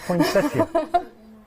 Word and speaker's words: poinsettia: Yeah, poinsettia.